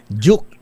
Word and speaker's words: Duke: Ah ano ang pronunciation ng pangalan niya? Duke or Duke? Ayan Duke.